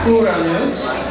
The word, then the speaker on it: Uranus: the planet Uranus, okay, say it with me, Uranus, that's how it's pronounced, that's how we're going to say it, alright people? William Herschel discovered the planet Uranus, and it immediately became a maddening conundrum for